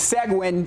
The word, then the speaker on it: Seguin: It's Seguin 66 over Navarro. They pitched the shutout tonight. That's crazy. Seguin, actually. Seguin, okay. There we go. Our producer just told us Seguin.